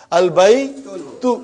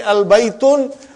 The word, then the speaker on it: al-baytu: Al-bay, tu. Oh, tu. Al-bay, tu. Got to be careful, brother. If you say al-baytun, I got a very weak heart. I'll get heart attack. It has to be al-baytu.